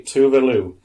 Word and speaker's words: Tove Lo: So, Swedish pop singer, and I'll pronounce it properly, Tove Lo, but it's pronounced How do you spell it?